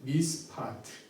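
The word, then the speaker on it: מִשְׁפָּט: 정의는 미스파트, 포악은 미스파 이렇게 발음이 됩니다.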